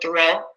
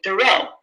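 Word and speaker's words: Thoreau: weeks remind them remember it's not Henry David thorough it's Henry David tho okay so you can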